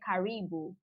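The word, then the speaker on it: karibu: those fabrics don't even have names let's say caribou so what is caribou let me just spell it k-a-r-i-b-u so caribou in swahili it means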